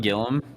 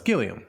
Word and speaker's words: Gilliam: past you know Gillum wasn't it pronounced John Gillum I don't know Gilli no it's Gilliam it's Gilliam okay sorry yeah why is